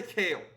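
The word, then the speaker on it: Kayle: K A Y L E. Kale. I want to say Kale. Even though Kale is spelled K A L E and you're overcompensating with the Y or at least your parents were when they named you.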